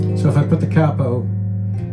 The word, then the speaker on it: capo: your capo, right, and that is the way it should be pronounced. It's not K-A-Y-P-O, it's not a capo, it's a capo. It's an Italian word, means head, right?